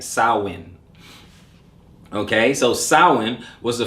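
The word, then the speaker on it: Samhain: is over right okay um but it says sowin right sour win is is like it's not expelled s-a-m-h-a-i-n right but it is pronounced s-o-w-i-n sauwin right sawin okay so sawin was the first and most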